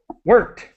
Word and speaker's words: worked: It's sometimes the ED is pronounced as quickly as possible. No extra syllable.